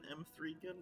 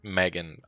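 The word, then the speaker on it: M3GAN: Is the official pronunciation M3gun? I have to assume. No, it is just Megan, I believe.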